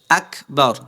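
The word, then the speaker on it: أكبر: যায় গুনাহ হয় কিন্তু সহি শুদ্ধ ভাবে উচ্চারণ কিভাবে হবে আকবার আক হালকা বাতাস বের হবে আক যখন আপনি জজম বা সাকিন দিয়ে পড়বেন তখন আপনার বাতাস হালকা বের হবে অর্থাৎ চাপ দেওয়ার পরে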